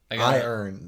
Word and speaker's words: iron: They say like with two syllables. I earn. Right. I got an iron pitcher full of old. Yeah, right. No, I got an iron pitcher of old. Iron. This is not right. Yeah. It says Pittsburghers have turned it into a one syllable word that comes out sounding like arm.